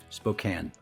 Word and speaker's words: Spokane: Spokane. Okay. Doesn't rhyme with cocaine. It rhymes with pecan.